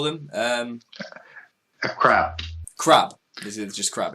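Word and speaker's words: עקרב: Yeah, a crab. A crab. So and typically Q is pronounced K in those aspects, as opposed to how we pronounce Q.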